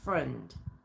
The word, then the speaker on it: Freund: Now, I've heard his surname pronounced a few different ways, but I think it's Freund. So I'm going to pronounce it that way, okay?